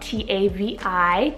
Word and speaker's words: Tavi: Tavi, spelled T-A-V-I, Tavi.